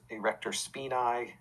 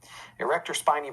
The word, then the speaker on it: erector spinae: the erector spiny muscles erector spinae muscles is how that's pronounced in latin but most people say spiny erector spiny muscles uh a lot